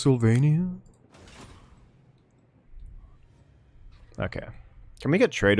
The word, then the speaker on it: Sylvania: Actually, it's pronounced Sylvania.